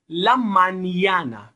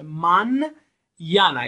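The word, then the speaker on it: mañana: لا مانیانا، ببینید دوستان، انی که در واقعش اون علامت رو میبینید به صورت نیه، نه و یه تلفظ میشه. من یانا، یعنی فکر کنید دنبال ان یه یه هم وجود داره.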